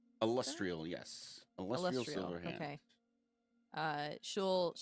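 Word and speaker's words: Alustriel: And how do you pronounce this lady's name? Illustrial? Illustrial, yes.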